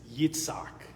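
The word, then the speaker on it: יצחק: Isaac is Yitzhak.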